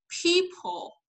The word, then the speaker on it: people: برضه في الدارك ال فبيقول لك مثلا people صح دي اللي هي الكلمه المصريه صح بس ايه الصح الصح انه انا اقول people هو ما فيش او طبعا بس هي عشان البح عشان تتنطق مع الدارك ال عشان اصلا I produce it like this عشان to utter it like this لازم تقول people.